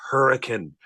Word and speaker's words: Hurricane: You don't know how many times I've sat here listening to you say that and say, it's Hurricane. Yeah. Yeah. I don't know why they pronounce it differently there than everywhere else in the world.